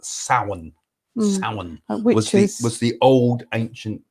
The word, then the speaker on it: Samhain: a thing called it's spelt samhain but it's pronounced sauen which was the old ancient like you said